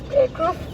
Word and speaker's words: Cruyff: And in fact, for example, there was this Dutch player, I always mispronounce it, but it's Cruyff, that he did not come to the World